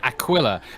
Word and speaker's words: Aquila: to do the constellation Aquila, and then Disco was like, Akia, and I'm like, no, it's not Mexican, it's Latin. It's Akia. Aquila, like aqua.